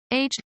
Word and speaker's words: aged: desired or final condition aged pronounced as one syllable mature well-aged cheeses advanced in years aged is pronounced as two syllables aged members of the